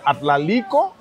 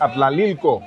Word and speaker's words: Atlalilco: Yo decía Atlalico, mientras que es Atlalilco.